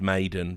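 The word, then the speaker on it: Maden: Snappy, Dupree and Madden, which still should be pronounced Maiden, but he insists it's Madden. Just add an extra D, it's never too late.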